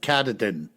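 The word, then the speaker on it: Katahdin: carterton woods and Waters that's k-a-t-a-h-d-i-n I pronounce it katadin I remember the day of the incident as if it was yesterday being August 27 1971.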